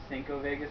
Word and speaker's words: 5 Vegas: Now, the uh, Vegas Miami here, it's actually correctly pronounced Cinco Vegas for anybody that really cares as well.